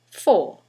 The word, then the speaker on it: for: And another example, preposition for. In the sentence, the vowel is reduced to f. It's for you.